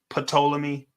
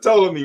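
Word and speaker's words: Ptolemy: please don't pronounce this pamy okay the p is silent the p is silent y'all so it's just yes but toam me right no it's poam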